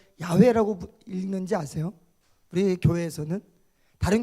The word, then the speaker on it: 야훼: 여러분들이 여호와라고 번역되어 있는 성경은 예전에 이 하나님의 이름을 감히 인간이 어떻게 그냥 부르겠는가라고 해서 이 야훼라는 글자에 아도나이라는 이 모음을 집어넣어서 여호와라고 이렇게 기록을 했어요.